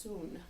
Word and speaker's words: Sun: soon it would just spelled like Sun s UN but pronounced soon so for this soon